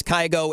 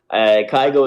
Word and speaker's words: Kygo: I guess it's just like the Norwegian pronunciation would be Kygo.